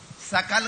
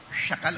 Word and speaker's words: सकल: सकल कहना है उच्चारण में, और आपने शकल कह दिया। अब कुछ देश वाले तो सा को शाही बोलते हैं, तो गड़बड़ हो जाता है।